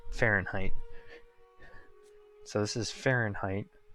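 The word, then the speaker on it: Farn'd: Except for it's pronounced Fahrenheit.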